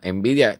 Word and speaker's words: Nvidia: lo fue no eh envidia que no se escribe como la palabra envidia en español no envidia tiene una n delante envidia y es la firma